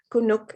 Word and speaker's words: Kunuk: who is my homie he calls me cool nook just dropped the l kunuk is my name um i'm named after